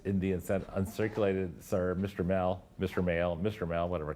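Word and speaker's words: Mehl: But even today, people say Max Mell, and everyone said Max Mell, like you shouldn't say mail, but he pronounced it mail.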